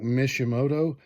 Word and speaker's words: Mishimoto: i hope i'm saying this name right i pronounce it like mishimoto uh says uh big truck power but this